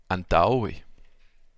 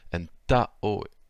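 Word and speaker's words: antaŭe: Ensuite, on a ao, comme dans antaoe. Donc là, l'accent tonique est sur le ta, si vous avez bien suivi les règles que j'ai énoncées tout à l'heure. Donc ça donne antaoe.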